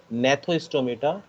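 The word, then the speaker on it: Gnathostomata: of this word is nathostomata some people call it uh or say it gnathoistometer where g is silent so this uh this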